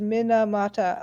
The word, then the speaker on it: Minamata: Because Minamata, it's all exactly the same vowel sound.